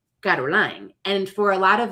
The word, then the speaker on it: CarolLaine: Um, and so I went from Caroline to Ko to teach myself how to say my name. And then I realized that the way that my family says my name is Caroline. And so then the next step was for me to say my name, Caroline.